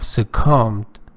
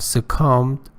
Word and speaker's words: succumbed: badly from a disease thousands of cows have succumbed pay attention be or be is not pronounced don't say say combi it's a comm so thousands of cows have succumbed to the disease in the past few Mountain